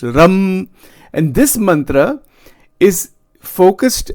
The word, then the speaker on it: Ram: The Bij mantra is Ram, R-U-M, Ram, right, like this. That is how it is pronounced, Ram.